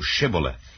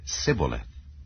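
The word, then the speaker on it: Shibboleth: said they unto him say now shth and he said sioth for he could not frame to pronounce it right then they took him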